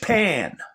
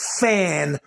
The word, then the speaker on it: Fani: said that judge pan if she wants me to pronounce it fan then she needs to change the spelling in her name I don't live in Vietnam okay I don't pronounce my P's as FS unless it's got a h behind it but anyway judge pan